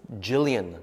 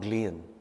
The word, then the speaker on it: Jillian: out from pasadena that it's jillian not glean jillian so sorry that i've